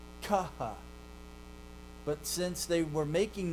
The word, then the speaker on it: chi: But that's not how they were pronounced then. Okay? They were aspirates. And an aspirate is a combination of an unvoiced plus aspiration. So, chi is really just a kappa and a ha. Kaha.